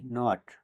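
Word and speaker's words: knot: কে লেটারটি silent থাকবে কে এন ও টি নট অর্থ gate এখানেও কে লেটার ডি সাইলেন্ট থাকবে কে এন ও ডবলিউ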